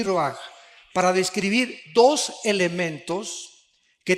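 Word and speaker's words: רוּחַ: Aquí se usa otra palabra hebrea que es se escribe roach con R de Raúl A. Se pronuncia roaj.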